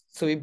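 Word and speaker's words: Sui: arkadaş diyebilirsiniz sıvıyı derken Çoğu kişi su diye telaffuz ediyor ama doğru telaffuzu sıvı İngilizcede tatlı olan Sweet gibi ama sonunda T yok ona dikkat ederseniz süper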